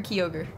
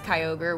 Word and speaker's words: Kyogre: you for making me do you call him Kyogre or kogre I call him Kyogre but I think it's Kyogre which is the official pronunciation uh and speaking